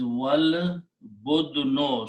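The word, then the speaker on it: والبدن: So when you recite with waw, which is and, you do not pronounce this alif. This alif becomes hamzatul wasl, small swad. So the pronunciation is wal budno.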